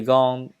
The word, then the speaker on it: gants: Je dois dire riz sans S, riz, vert, blanc, habit, vêtements, tricot, gants. Les lettres à la fin du mot ne se prononcent pas et donc qu'on ne prononce que le principal.